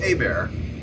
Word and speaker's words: Hebert: but it is pronounced a bear the H is silent is like an egg